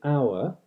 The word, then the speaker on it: hour: his list this or is an hour and just like in modern English the H isn't pronounced so this H dropping